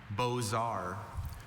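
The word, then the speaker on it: beaux arts: B O Z A R. Bozar. Bozar is spelled B E A U X A R Ts.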